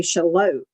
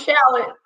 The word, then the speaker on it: Charlotte: So, but, it took me forever to learn how to say Charlotte. I mean, because if you look at how it's spelled, yeah, it's confusing. Yes, I thought it was shallot.